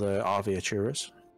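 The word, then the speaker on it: Arveiaturace: It's called Arviaturus. Arviaturus. Ace Venturas. How do you spell that?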